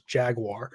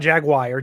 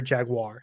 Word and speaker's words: jaguar: pronunciation of jaguar and i've been pronouncing it wrong it is jaguar so there we go not jaguar jaguar thank you huge shout